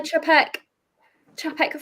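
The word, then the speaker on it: Czapek: Cha, like cha-cha. And now, like, all I have in my head is like the cha-cha dance. Pronunciation of Chapek? Yeah, like cha-cha, is what well, it's a CZ, right? Yeah. So, with my limited Polish, cha would be right.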